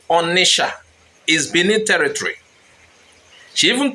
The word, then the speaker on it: Onicha: And to make it worse, she used the spelling Onitsha to back her point. You know that sha instead of cha. It is sounding to some as if that is the real name.